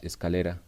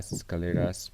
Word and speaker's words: escalera: one that the name of this one is escalera but also the people call this one gradas they call we have people that pronounce in many different ways grada scaleras but i think it's better that you say